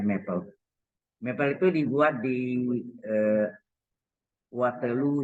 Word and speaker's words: Maple: Tulisannya Maple, bacanya Maple.